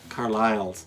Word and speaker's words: Carlisle: name as some relatives the Carliles and Carlile c a r l i s l e with a silent s in there.